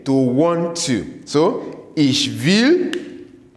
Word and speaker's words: will: So ich will, say it after me, ich will, du willst. Remember, this W is not it's pronounced like a V.